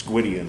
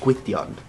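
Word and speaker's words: Gwyn: matter of personal preference Gyan is a Welsh God if you didn't know or as it's more appropriately pronounced Quon thank you person who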